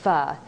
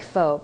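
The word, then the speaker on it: phở: make a quick Vietnamese F it's spelled pH so it looks like faux but it's pronounced f as in fun this is a soothing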